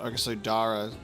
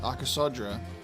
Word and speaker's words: Arasodra: So, it's not Aasodara with the you remove one of those letters. Arasodra.